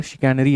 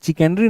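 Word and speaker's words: चिकनकारी: तो चिकैनरी मतलब यहाँ पर शिकैनरी आप उसको बोलते हैं, चिकैनरी नहीं बोलते, प्रोनाउंसिएशन जो होता है शिकैनरी होता है।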